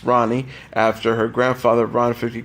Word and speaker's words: Rani: we have dedicated the name our daughter Rani pronounced Rani after her grandfather Rana 50 Cal WA Ronald